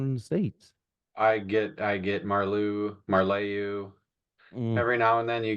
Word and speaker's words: Marleau: I get Marleau.